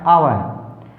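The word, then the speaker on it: hour: First word हमारा आवर, आवर, हम इसको आवर बोलते हैं, लेकिन यहाँ पर R जो है वो साइलेंट होता है, ठीक है, आवर, इसलिए मैंने इसको ब्रैकेट में लिखा है।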